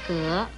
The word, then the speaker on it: 革: 格子的国语读音是格，二声格，歌鹅格，二声格。